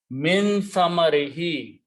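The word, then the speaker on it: مِنْ ثَمَرِهِ: In order to pronounce properly, we also pronounce this as a he. Min samarihi, okay, from its fruits.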